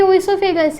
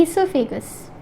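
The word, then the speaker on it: oesophagus: ये हमारा स्टमक है, ये हमारी ओएसोफेगस है, सॉरी ईसोफेगस, ये हमारी ईसोफेगस है, ओ इज साइलेंट, और ये हमारा स्टमक है, ये हमारा स्टमक है.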